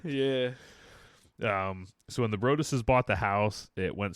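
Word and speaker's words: Broaddus: get their name wrong I keep W to call them the brutus' the brutus' but it's the the bruses I keep when you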